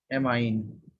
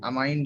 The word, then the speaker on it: amine: जाता है, वो है एमाइन। एमाइन या एमीन, दोनों ही बोल सकते हैं। अमाइन जो है करेक्ट प्रोनाउंसिएशन में आएगा।